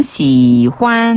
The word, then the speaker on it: 喜欢: 여기서 시환이라는 표현이 시환. 환희의 중국식 발음 거꾸로 네. 발음하면 시환 喜欢 좋아하다.